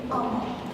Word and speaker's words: Amal: Amal in Bengali pronunciation would be Amal.